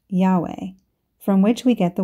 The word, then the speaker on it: Yahweh: is capital letters j-h-v-h Hebrew was originally written without vowel sounds and this name was probably pronounced Yahweh from which we get